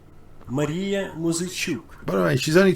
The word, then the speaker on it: Muzychuk: I can get you the pronunciation of her name again. Maria Muzychuk. Muzychuk. Maria Muzychuk.